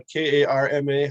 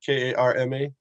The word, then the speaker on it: karma: Sanskrit or Hindi language is the difference between the long A and the short A, especially if it's followed by an R. Right? So what is that? When you action and reaction, the Karma, how do you say that?